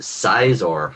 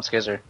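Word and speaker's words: Scizor: or you guys pronounced or who pronounced it caor for a while not me NOP I don't know anybody who ever did that Don calls him skizzer yeah I call him skizzer okay well in any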